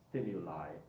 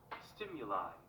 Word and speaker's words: stimuli: Again, let me show you the pronunciation for that one because, again, there is more than one possibility. Stimuli, yeah? Stimuli. Stimuli. Stimuli, yeah? So we can actually use the same I.